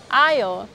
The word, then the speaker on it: aisle: Notice when I pronounce the word aisle I did not pronounce letter 'S" Aisle.